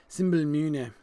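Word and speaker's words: simbelmynë: flower in Rohan and you have to pronounce the Y uh the Y in Anglo Saxon is pronounced uh it's that wonderful e vowel um uh that you get in some European languages but we don't do in English um so uh and it's so much more fun when you pronounce it symol m so symbol mun is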